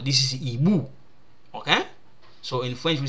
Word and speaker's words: hibou: This one is a silent, I don't pronounce it. Okay, so I say hibou.